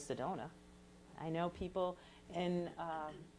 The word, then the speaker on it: Sedona: had some weird pronunciations they would tell me people were from sadanaye or sadana or see donna which i thought was funny because i think everybody all over the world knows sedona i know people in